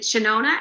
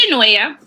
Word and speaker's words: Chenoia: and i want to say to is it shanona am i pronouncing it it's genoya okay girl best of luck to you um